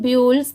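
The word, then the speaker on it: builds: है ब्यूल्ड्स जो कि मैं आपको हर वीडियो में बताती हूं कि कोई भी वर्ड के लास्ट में अगर एस हो तो वहां पर लास्ट में स की साउंड जरूर आएगी।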